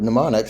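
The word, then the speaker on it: mnemonic: 23 across pneumonic starts the word pneumonic starts with a silent M okay con man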